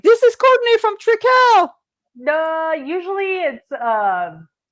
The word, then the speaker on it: Trekell: Do you get recognized if you go to an art event or people will be like, "This is Courtney from Trekell"?